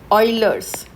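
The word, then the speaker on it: Euler: This is ऑयलर्स।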